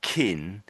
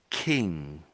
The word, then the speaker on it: king: Oh with that one I'm I'm hearing more kqin but you're in in between the middle I would say. So it's a harder one I think. So king king.